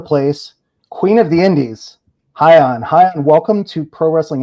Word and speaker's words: Hyan: And we have a very exciting guest here today, whose name is much easier to pronounce because it's only 2 syllables.